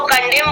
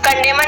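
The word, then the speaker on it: condemn: Next example देखते हैं सी ओ एन डी ई एम एन, ठीक है, इसको कंडेम बोलेंगे, कंडेमन नहीं बोलेंगे, ठीक है, इसको प्रोनाउंसिएशन करेक्ट प्रोनाउंसिएशन आपका कंडेम।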